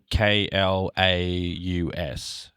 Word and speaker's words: Klaus: It's like it's spelt Klaus. So I'm pretty sure it's pronounced Klaus. It's like claws, but Klaus.